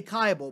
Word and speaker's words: Kibel: actually to be honest there's even different pronunciations within the family tree uh my people we say kaibal but there are there